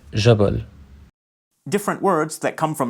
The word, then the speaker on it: جبل: The j sound of modern standard Arabic, which is represented by the letter jim, is commonly pronounced j, like the French j sound. For example, the word for mountain جبل is pronounced.